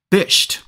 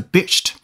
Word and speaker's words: bisht: OK 接下来我们讲一下这种阿拉伯的黑纱的外袍英文怎么说呢这种黑袍英文念作bisht bisht 好这个地方有音标的大家可以看一下拼写就是b i s h t 好我们看一下例句吧 The emir of Qatar draped Messi in the Arab cloak known as a "bisht".